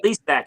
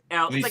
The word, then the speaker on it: Lesak: I've known him for years, but Lesak. You screwed it up immediately, John. What is it? Lesak. Lesak. Like you know, from watching Land of the Lost, you should know how to say.